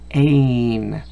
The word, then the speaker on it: pane: See, again, that silent E, guys. Oof. When that silent E is at the end, it makes this letter have the long sound. P-ain, pain.